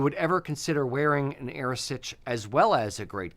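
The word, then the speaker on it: arisaid: it's you know it's spelled aade but it's pronounced AOS if you would ever consider wearing an AOS as well as a great Kilt what I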